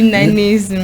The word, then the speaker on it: nanisme: Tommy Koussé, ah, donc, c'est journée internationale du nanisme.